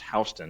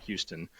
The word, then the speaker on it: Houston: Like all the Atlanta investors want to buy in Warner Robins because the county, which is pronounced Houston, not Houston, it's Houston County, has like incredibly good schools.